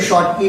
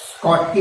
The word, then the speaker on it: Schottky: स्कॉटकी defect, इसको शॉर्टकी भी बोलते हैं, किसी भी कोई प्रोनाउंस शॉर्टकी करता है, स्कॉटकी बेटर है, तो स्कॉटकी डिफेक्ट।